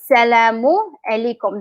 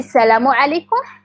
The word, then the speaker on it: salamu alaykum: Or salamu alaykum. That's the whole thing. Muslim not like the whole thing. But we either say salamu alaykum or the short form salam to mean hello.